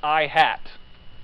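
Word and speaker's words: î: some standard notation so this is pronounced I hat right that's a lowercase I with a pointy hat on top of it okay in coordinates in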